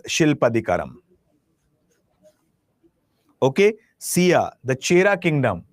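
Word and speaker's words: Silappatikaram: See there are different pronunciation but just understand the pronunciation. It is shilpadicaram.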